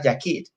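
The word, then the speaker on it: yachid: en el hebreo existe la palabra yashid, pronunciada yakid, y esta palabra indica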